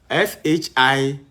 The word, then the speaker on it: Shimshon: S-H-I-M-S-H-O-N. Shimshon or Samson. if you want, the way you want to pronounce, meaning sunlight.